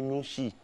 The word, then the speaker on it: Nouchi: Avant, le Noussi, quand on dit Noussi, c'est pas Noussi, mais on dit Nouchi. Nouchi, oui. Voilà, non, c'est pas Nouchi, on dit Nouchi. Nouchi. Voilà, c'est la bonne prononciation.